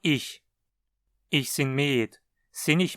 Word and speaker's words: ich: O ich propriamente dito não costuma reduzir muito ou se tornar enclítico. A pronúncia continua ich.